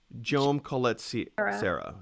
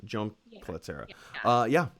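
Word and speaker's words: Jaume Collet-Serra: How do you pronounce his name? Jome Collet-Serra. Jome Collet-Serra.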